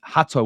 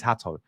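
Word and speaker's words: Hato: more versatile option um Hatau or hater I don't know how you pronounce his name I think it's I think it is Hatau um a lot of people say it's hatu but Jeral Hatau from Ajax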